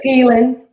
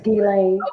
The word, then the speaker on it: Ghislaine: But it's Ghislaine. Her name is Ghislaine.